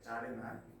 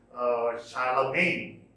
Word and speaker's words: Charlemagne: Some say Charlemagne. Actually, its pronunciation is Charlemagne, who established a kind of empire in Western Europe after the collapse of the Roman Empire.